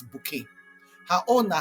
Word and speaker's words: Bucket: Na about Mrs. Hyacinth Bucket wey she dey pronounce as bouquet.